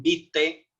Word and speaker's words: vitae: por ejemplo los sustantivos hemos dicho currículum vite se escribe vitae pero vitae es un